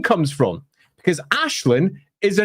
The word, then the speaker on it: Aislinn: something like, "Oh, and that character's nickname is Ash."